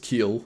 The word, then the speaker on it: Kiel: well yes uh so yeah this is just pronunciation problems it's just keel apparently not kl like the boat part yes